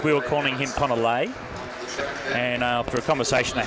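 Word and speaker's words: Leahy: that it may not have been the correct pronunciation. He's happy with Lelay but he did say it is Lehi.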